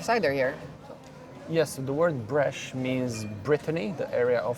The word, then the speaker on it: Breizh: Yes, the word Brèche means Brittany, the area of France, Brittany, in their local dialect. That's how you would say it, Brèche. It's spelled very differently, but it's pronounced Brèche.